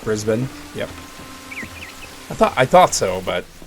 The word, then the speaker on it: Brisbane: Yeah, the first pronunciation is correct. Brisbane.